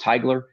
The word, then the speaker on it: Teigler: Mhm, Um, and it's Teigeler, pronounced Teigler.